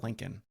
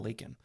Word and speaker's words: Laken: He called her Lincoln instead of Laken.